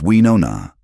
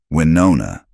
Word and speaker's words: Winona: It's weona. She corrected him gently one day. The O is rounder. Winona.